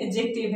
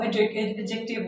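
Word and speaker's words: adjective: तो उसको हम, वो एडजेक्टिव होता है। मैंने अब एडजेक्टिव नहीं बोला, मैंने क्या बोला? एडजेक्टिव। क्यों? क्योंकि डी और जे टुगेदर आ गया तो डी को हमने प्रोनाउंस नहीं करना।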